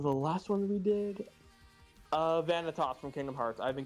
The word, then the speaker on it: Vanitas: Vanitas from Kingdom Hearts. I've been getting into that one recently. Vanitas? Yeah, Vanitas. Vanitas. Vanitas. It's Benitas! It's literally pronounced Benitas!